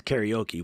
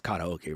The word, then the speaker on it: karaoke: Like the whole country says karaoke when it's karaoke, right?